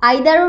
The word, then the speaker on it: either: ইদার আইদার আমি তো দুইটাই পেয়েছি ডিকশনারিতে, আইপিএস সিম্বল দিয়ে যেহেতু আমি দুইটাই পেয়েছি সো আমি কি বলবো, আইদারও রাইট ইদার এটাও রাইট, আইদার ইদা বোথ আর কারেক্ট।